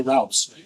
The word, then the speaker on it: routes: you know and yes I get that we say routes in the Midwest but I say roots because I wanted to play